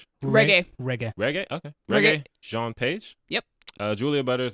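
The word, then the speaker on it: Regé-Jean: Reggae.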